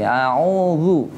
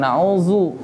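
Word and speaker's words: أعوذ: Zu berarti a'udzu. Bukan a'udzu. Antum sering dengarnya yang mana nih?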